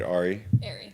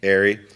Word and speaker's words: Ari: Ari is concerned am I saying it right Ari arey as far as area is concerned it's the